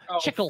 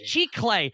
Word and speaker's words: Chicle: Gim Gam's pronunciation of Chickle hurts. It's Chicle, not Chickle.